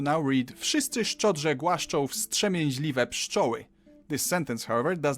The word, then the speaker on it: wstrzemięźliwe: W, s, t, ż, e, m, i, ę, ź, l, i, w, e. Wstrzemięźliwe. Wstrzemięźliwe.